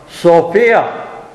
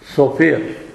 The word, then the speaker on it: София: бога на божията премъдрост софия само че тука нали софиянци казват софия българите но в долно камарци старите хора казват софия отивам на софия тивам на софия правилното е ударението е да е вите божията премъдрост